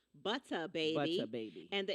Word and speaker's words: Buttah: Butter Baby, and that's spelled Buttah. Butter Baby.